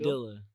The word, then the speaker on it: Padilla: Is that how it's spelled? Padilla.